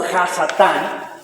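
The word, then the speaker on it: השטן: Si vamos al origen de la palabra Satanás, encontramos que viene de una palabra hebrea que se pronuncia como Hasatán, que va a estar ahí, que quiere decir el que engaña o el engañador.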